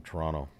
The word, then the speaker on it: Toronto: the Toronto stuff it's Toronto yeah the the second T is swallow exactly is silent Toronto Toronto yeah Toronto